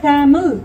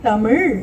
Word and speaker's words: தமிழ்: திருத்தமாக தாயும் தகப்பனும் உச்சரிக்கல அப்படின்னா குழந்தை டேமில் அப்படின்னு சொன்னா திருத்தி தமிழ் அப்படின்னு நீங்க சொல்லலைன்னா அது மறுபடியும் டேமில் அப்படின்னு சொல்லும். மறுபடியும் தமிழ்னு சொல்லணும்.